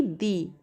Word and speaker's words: the: तो यहाँ पर वैसे ही हम लोग THE को द प्रोनाउंसिएट करेंगे, ना कि दी, ठीक है। वैसे ही व्यंजन वर्ड हो गया ईयर, तो द लग गया।